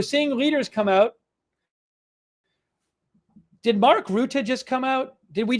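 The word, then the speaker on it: Mark Rutte: Mark Rut. Mark R. There you go. That's from Wikipedia. Mark Rut.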